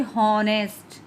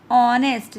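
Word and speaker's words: honest: अब आप इसको बोलोगे हॉनेस्ट, this is incorrect pronunciation ना. ऑनेस्ट, जब आपको लगेगा कि साउंड यहाँ पे ओ की आ रही है तभी आपको पता चलेगा ना एन लगना है.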